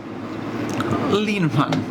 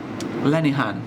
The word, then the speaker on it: Lenihan: Linehan, am I pronouncing that right? Where? Lenihan.